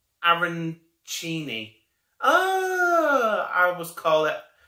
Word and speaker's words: arancini: And user EJ3ZJ2CIAL has put, hi Charlie, it's pronounced Arancini.